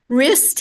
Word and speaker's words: wrist: and things like that wrist has a silent W and you could add